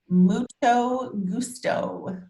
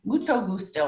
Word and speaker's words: mucho gusto: this is a really good one and it's pronounced mucho gusto mucho gusto and what is the direct translation of that